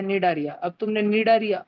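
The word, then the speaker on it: Cnidaria: निडारिया। तुम बोलो भैया वो तो स्निडारिया है भैया, स्निडारिया, सी है ना उसमें, लेकिन सी साइलेंट है, सी साइलेंट है।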